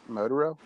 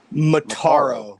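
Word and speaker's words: Motaro: other two generals more motoroles that how you pronounce it motorola mataro the uh the half centurion half human and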